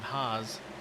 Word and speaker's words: Haas: had a local family named haas with no e they pronounced it has got a friend of last name has as well pronounce it the same way flight rider number 25